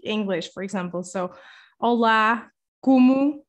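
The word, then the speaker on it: como: for example so hola kumu so it's not komo or anything like that it's like kumu and then you see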